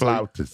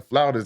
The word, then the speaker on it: flautist: Just like a pianist, Flautist. a saxophonist. Flutist is a real thing. It's just like a flautist. That's more so the European pronunciation.